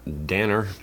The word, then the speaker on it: Danner: A Foil Mountain by Elena Danner. Rhymes with Tanner. Full House, Stephanie.